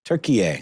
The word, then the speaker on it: Türkiye: How do you say it, Ben? Is that Türkiye. Right? Türkiye, there you go.